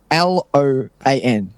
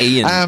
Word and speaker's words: Ioan: Loan. No, it's IOAN, isn't it? Yeah, it's not an L. I'm kidding. It's IOAN. And I think it's Ian, but like the weirdest spelling ever.